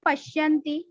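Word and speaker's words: paśyanti: Shya. That is combined letter. Pronounced simultaneously.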